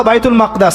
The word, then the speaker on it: বাইতুল মাকদিস: এই বোরাক চলে গেল বাইতুল মাকদাস এটা কোথায় বাইতুল মাকদিস সরি বাইতুল মাকদাস না বাইতুল মাকদিস বিভিন্ন মানুষ বিভিন্ন উচ্চারণ করে এটা হচ্ছে প্যালেস্টাইন কোথায়